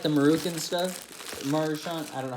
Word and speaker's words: Maruchan: Like, it's literally not even like, for the camera, it's not even like the Maruchan stuff. Maruchan, I don't know how to say it. It's Maruchan.